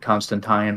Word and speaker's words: Constantine: Like Constantine rhymes with wine.